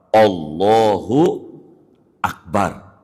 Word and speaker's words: Allahu Akbar: Allahu Akbar. Allah Akbar. Allah Akbar. Kudu begitu. Kemudian yang kelima, tidak boleh hamzah lafad Allah dibaca panjang. Enggak boleh. Allahu Akbar. Enggak boleh. Sebab artinya berubah menjadi pertanyaan.